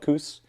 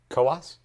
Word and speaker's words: Coos: getting this right but it's called the koas i think that's right it looks like it's spelled coos but it's koas mountain biking trails in